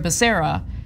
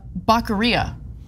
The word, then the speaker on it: Becerra: Javier Becerra, his name is pronounced Javier Becerra. He recently called him Javier Bacaria.